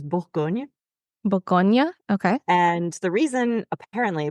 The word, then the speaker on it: Bourgogne: in English we say burgundy but in French it's like Boron or something like that yes so the correct way to say it in French is Bon Bonia okay and the reason